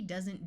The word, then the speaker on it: does: Here we have from and does. While OE usually has a long O sound, in this word the E doesn't do anything. Also notice the S uses its second sound of Z.